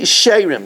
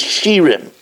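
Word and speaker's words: שירים: I think when I learned in yeshiva, I always pronounced as shirim. but Artsko says that the correct pronunciation is Sherim.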